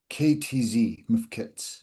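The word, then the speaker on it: mfkzt: It's MF-KTZ, Mifkits. miskits, yeah, MF-KTZ.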